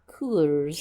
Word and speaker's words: Coors: I think it's pronounced Coors.